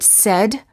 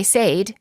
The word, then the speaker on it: said: many warning common mistake the verb say is pronounced with an s sound in the past tense and in the present tense when it is followed by an s for example i say but i said he says don't say i sayed and he says pairs presidential election bend